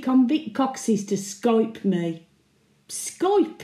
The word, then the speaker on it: Skype: Skype, indeed. Rhymes with tripe.